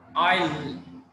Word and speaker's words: isle: দেন আইল, ISLE, আইল, এখানে আসলে এসটা সাইলেন্ট।